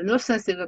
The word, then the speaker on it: nuisance: nuisance가 굉장히 발음이 좀 쉽지 않은 발음인데 이때 I하고 A가 둘 다 묵음이에요.